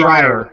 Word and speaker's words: Schreier: I don't know how to pronounce it. Schreier.